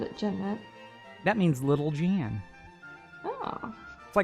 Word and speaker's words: Janette: Is it, so it's Jeanette? Jeanette, as opposed to Janet? Jeanette. How is it spelled? I can't see that. Janette. Oh, okay. I know Jeanette who called it Jeanette.